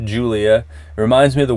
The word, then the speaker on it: Gulia: Spelled with a G, pronounced Julia.